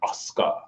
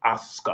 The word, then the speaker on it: Asuka: asuka right now right but we know it's pronounced oscar you know it rolls off your tongue like silk oscar oscar oscar what are your predictions oh people